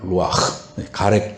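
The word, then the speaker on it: רוח: 성령 루하흐 히브리 말로 루아흐라고 합니다. 루아흐 가래가 끓듯이 발음해야 돼.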